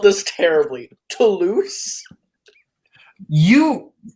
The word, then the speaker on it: Toulouse: Toulouse. You spelled it terribly, but you are phonetically correct.